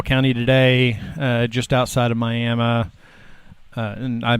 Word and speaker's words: Miami: Okay, so we are up in Ottawa County today, just outside of Miami. And I pronounced it properly there, so Miami.